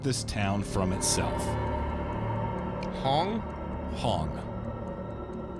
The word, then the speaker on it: Hong: Hong. Like H-O-N-G? Spell it. Yeah, like Hong Kong, but Hong.